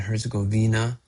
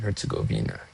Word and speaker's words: Herzegovina: Bosnia and Herzegovina is playing today against Canada in the World Cup.